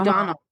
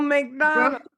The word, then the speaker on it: O'Donnell: O'Donnell. I said her last name wrong. Oh, McDonald.